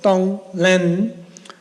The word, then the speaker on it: tonglen: And there is a Tibetan word for that, which is called tonglen, which is spelled t o n g l e n, tonglen.